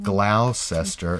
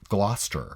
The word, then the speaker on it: Gloucester: that like of the town that looks like Glaus Esther it's actually pronounced Gloucester yeah and one Leicester Square to Le I